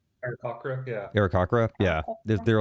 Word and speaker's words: Aarakocra: The Aarakocra? Aarakocra, yeah.